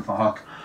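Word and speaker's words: Phuc: It's spelled with a PH, so it sounds like Fahok.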